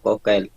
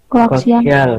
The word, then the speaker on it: koaksial: Kabel kokel. Ya, Bu. Masa kokel bacanya? Koaksial.